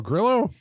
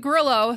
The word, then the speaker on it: Grillo: Each of these are, like we said, Frank is it Grillo or Grillo? I always say Grillo. I always say Grillo because he's white, right? So I assume it would be the white pronunciation.